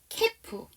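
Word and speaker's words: calf: 우리 이렇게 발음되는 거 알고 계시는 거 뭐 있으세요? 케프.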